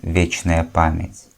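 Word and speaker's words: вечная память: your memory be eternal and it's pronounced vichner permits may your memory be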